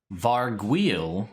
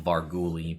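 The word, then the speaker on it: vargouille: go ready varg wheel varguil is how you officially pronounce it although i did used to have a lot of fun saying vargoulie back in the day which was just the fun thing me my friends used to say but this is a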